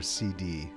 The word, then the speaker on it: SeeD: Kind of curious what everybody thinks of whether it's pronounced seed or CD. I always went with seed, regardless of the outer capped D, just because they do train in a garden, and you take your seed exam.